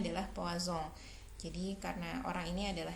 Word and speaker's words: Poisson: Jadi yang pertama adalah data binomial, kemudian yang kedua adalah data di hipergeometrik, yang ketiga ini diambil dari seorang ilmuwan Prancis, pelafalannya adalah Poisson.